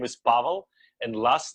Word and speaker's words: Pavel: did I did I asked it's hard to pronounce probably for english-speaking people but my first name is Paulo and last name is so we